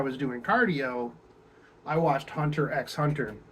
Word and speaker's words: Hunter x Hunter: doing cardio I watched Hunter x Hunter which the x is pronounced in the middle of it I don't care what you say people who's say it's hunter hunter or just wrong you know but it's